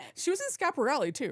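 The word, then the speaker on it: Schiaparelli: I'm pronouncing it right. Scaparelli. Scaparelli.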